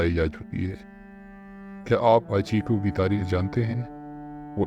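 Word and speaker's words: 八: جاپانی رسم الخط میں نمبر 8 کے کردار سے مشابہت رکھتے ہیں جس کا تلفظ ہاچی ہے۔ اس نے اس کا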